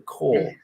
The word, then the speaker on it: Corps: The core, I call them corpses. It's sort of spelt corpse, isn't it? Well, I pronounce them core.